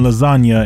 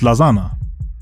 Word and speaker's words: lasagna: like this line cause the g in lasagna ain't silent you would read it differently if you left it out without the g it would be pronounced lazana many people in hip-hop